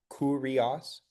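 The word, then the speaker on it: κύριος: Um, and then remember this is a u that makes an u sound, so kurios.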